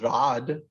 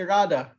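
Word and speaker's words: Radha: like we never say nobody ever says rod they say rada or sit they always say sita because it's a long ace so in india just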